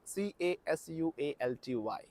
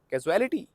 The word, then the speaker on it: casualty: me photography photography photography that is the exact pronunciation of this word and the next word is c a s u a l t y casuality no it's casualty casualty casualty probably you are